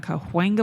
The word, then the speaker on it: Cahuenga: for a month, July 15th to August 15th on Cahuenga Boulevard, they had a big. You never say Coenga Boulevard. Cahuenga. Well, then spell it right, Los Angelinos.